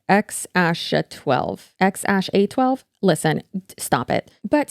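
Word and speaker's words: X Æ A-12: And apparently the name is pronounced X-A12.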